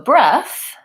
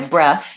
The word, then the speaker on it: breath: and past tense so so breath my breath the noun has a voiceless th sounds like breath same sound as in teeth and both etc I breathed has